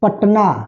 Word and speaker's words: पटना: जैसे जनक, पटना। तो पटना जैसे हम बोल रहे हैं तो ट का क्या हो रहा है, आधा उच्चारण हो रहा है, तो ट के